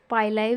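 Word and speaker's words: pili: देखिए पिलाई को पिलाई भी कह सकते हैं, पाइलाई भी कह सकते हैं, मतलब प्रोनाउंसिएशन कुछ भी कर सकते हैं, इससे कोई ये मैटर नहीं करता, ठीक है।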